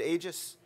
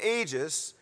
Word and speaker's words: Aegis: you know we've got Aegis cruisers but i think you pronounce your name is you pronounce it Aegis see I knew I'd get it wrong so team ages from Herriman high school